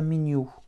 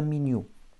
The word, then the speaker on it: меню: Это menu, avec une accentuation finale puisque le mot vient du français. Et mon Y se prononcera comme un petit I. Это menu. Еще раз. M, Y, N, U. Это menu.